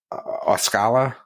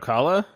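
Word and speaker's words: Ocala: but it's going to be how do you pronounce it osala was by Tampa whatever that is are you talking about Okala Okala yeah sure yeah yeah I guess so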